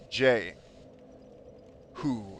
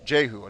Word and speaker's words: Jehu: uh says my name is pronounced jay who jehu not okay i don't mean